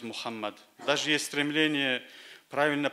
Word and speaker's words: Мухаммад: мы одобряем это например раньше в русскоговорящих семьи имя пророка соллаллаху а сталин звучало как магомед позднее они стали использовать форму мухаммед но теперь повсюду все больше стали говорить muhammad даже есть стремление правильно